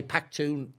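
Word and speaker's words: Pakhtun: Is that the correct term now? Because I know they say Pakhtoon. It depends who you meet.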